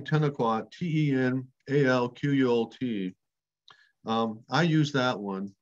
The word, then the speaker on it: Tenalquot: i instead of an e in the first syllable but 10 o'clock then the the spelling ten o'clock t-e-n-a-l-q-u-o-t i use that one because it appears